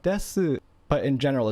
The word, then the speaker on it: desu: And you'll hear that the u is very soft. So if you want to pronounce it, it's like desu. But if you don't pronounce it, you probably won't tell a difference. So like here I am pronouncing it desu, and here I am not pronouncing it des.